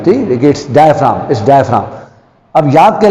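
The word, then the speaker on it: diaphragm: आप देख रहे हैं मैंने इसमें जी लिखा है क्योंकि इसकी स्पेलिंग में जी लिखते हैं, बट जब हम इसको पढ़ेंगे तो हम जी नहीं पढ़ेंगे, तो हम इसको पढ़ेंगे डायाफ्राम। जी हमें नहीं पढ़ना, ठीक हो गया?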